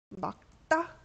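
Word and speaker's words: 맑다: 그러면은 기억이 아니죠. 이럴 때는 막다 이렇게 기억이 남아요.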